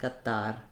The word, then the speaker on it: Qatar: It's called unaspirated T. It's a little bit like a flap, gadar. So in that way, that's part of what I think why I hear it as being more first syllable stress, because that T sound in American English would have a strong burst of air if it were a stressed syllable.